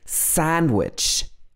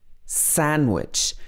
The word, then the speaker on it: sandwich: handsome he's very handsome and sandwich sandwich so some people might still say sandwich sandwich and in some of these cases it's not wrong to pronounce the d it just takes more effort and not everybody would do it so a lot of